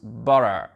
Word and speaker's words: butter: Et ça, par contre, les Américains, ce mot-là, regardez comment ils prononcent. Butter, butter. Vu qu'on a déjà le T qui fait un sort de D, donc le R, il va être vraiment, on va vraiment pas l'entendre.